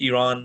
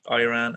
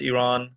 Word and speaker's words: Iran: so this is basically i'm iranian and it's pronounced iran not iran as a lot of our dear fellow docs or generally the community around here i see pronounce it as so it's iran one of the reasons that iran's uh you